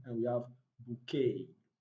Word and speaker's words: bouquet: chalet and we have bouquet now the three final words are of french origin so beside the last letter t is not pronounced in the three words sashay charlay and bouquet it's also important to